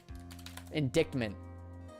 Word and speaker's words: indictment: indictment uh indictment has no how do you pronounce that? I've never had to utilize that word ever. Indictment.